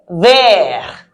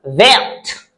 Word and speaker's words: verte: I'm saying vert for the little ones, but if you're a senior, you have to add an E to the vert to make it vert. So we are actually supposed to say la pomme est verte.